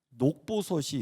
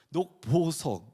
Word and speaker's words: 녹보석: 녹보섯이 있어요. 녹섯이 아니라 죄송합니다. 녹보석.